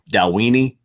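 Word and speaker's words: Dalwhinnie: pronounce the distillery but I'll watch it the dalla Wien sure yeah that's good boy Roy has given us a pronounced pronunciation of that one dal weenie Dewayne doll weenie no not da weenie da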